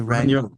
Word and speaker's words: Regnault: Henri Regnault.